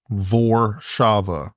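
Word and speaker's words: Warszawa: it the way like Warsaw is vaba oh makes sense VOR Shava vava and if it was VAV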